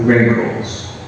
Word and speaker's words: wrinkles: And this lady, we say that she has wrinkles. Notice the pronunciation. The W is silent. So we only, the first sound is the letter R. She has wrinkles.